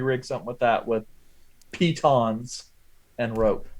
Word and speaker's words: piton: you could jury rig something with that with pitons and rope pyton I have kittens it's a piton Peyton I